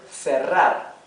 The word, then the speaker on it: cerrar: See how here we have double R. Double R. That's why, although the R is in the middle of the word and in between 2 vowels, right? We pronounce it R, the rough R, because it is doubled, right?